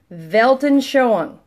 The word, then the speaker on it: Weltanschauung: wel TANF CH au UNG again wel t8n svaha you UNG 14 letters so there you go velton show on and there it is phonetically belt on show on belton showing that's how you pronounce this works all right big